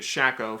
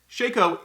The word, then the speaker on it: Shaco: Shaco Shaco Shaco Shaco Shaco Shaco is actually pronounced Shaco I pronounced it shacko for a really long time and I got